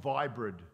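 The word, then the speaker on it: Viibryd: And one I've never been on before, it's called Vibrid, and they spell it V-I-I-B-R-Y-D.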